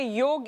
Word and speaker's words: योग: अच्छा, ये एक्चुअली योगा तो कोई होता ही नहीं ना, लफ्ज है योग। ए तो साइलेंट लगा देते हैं, राम में लगाए रामा, गीत में लगाए गीता, तो ए में लग गया तो योगा हो गया।